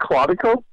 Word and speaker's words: Claudico: Because even, let's just say that, by the way, it's pronounced Claudico.